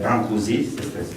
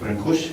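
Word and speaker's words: Brâncuși: la naissance de Constantin brancouszi c'est ASI qu'on n prononce en français brancouche com vous voulez considéré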